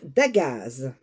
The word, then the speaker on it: Dagaz: Alors, on prononce d'agazz. d'agazz.